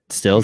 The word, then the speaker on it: Stills: over stills did i say his name right stills yes mills mills mills stills mills kenny stills